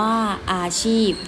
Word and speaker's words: อาชีพ: อาชีพ อาชีพ อ่าน ว่า อาชีพ นี้ จะ เห็น ว่า เวลา เขียน เพราะ ว่า อาชีพ เนี่ย มัน จะ สะกด ด้วย พอ พา นะ คะ แต่ ว่า เวลา เรา อ่าน มัน จะ ออก เสียง เหมือน บ่ ใบ ไม้ ใช่ ไหม คะ ชอย อี บ่ ชีพ ใช่ ไหม ค้า ดี ๆ อยู่